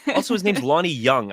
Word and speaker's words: Jung: Like, also, his name's Lonnie Young. I've been calling him Lonnie Jung this whole time. It's spelled with a J, but yeah. Young. Yeah. Well, I mean, Young, like Carl Young, the psychologist, but I never thought